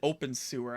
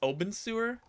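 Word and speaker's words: Obenseuer: uh creepy face yeah I don't think you pronounce it open sewer I think OB I think it's Oben sewer um I'm loving it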